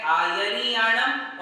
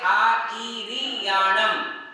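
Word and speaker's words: आइरियाणं: एक है आयरियाणम और एक है आईरियाणम। य भी है और ई भी है, किंतु दोनों पाठ में ई वाला पाठ ज्यादा शुद्ध महसूस होता है, शुद्ध माना जाता है। आईरियाणम। कौन सा? आयरियाणम की बजाय यदि हम आईरियाणम पढ़ते हैं तो ज्यादा बेटर होगा, इसलिए हम पढ़ेंगे नमो आईरियाणम, नमो आईरियाणम।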